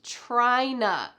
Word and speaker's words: tryna: And our final reduction that we're talking about today is tryna. It sounds so weird when you say it by itself, but in a sentence, it's no problem.